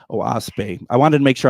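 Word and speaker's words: Oahspe: it's spelled o a s p and it's pronounced oash oase I wanted to make sure I didn't want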